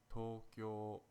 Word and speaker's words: Tokyo: long vow sounds in Japanese Tokyo is actually pronounced Tokyo did you also know that Tokyo is the